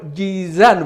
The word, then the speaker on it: جيزان: ومنها جاء اسمه جأزان اللي هو جيزان بالتخفيف.